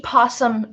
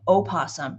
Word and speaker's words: opossum: it's interesting that um you can pronounce the O of opossum or not so even if it's spelled with the O opposum you can just still say posum that is correct technically as well but but yeah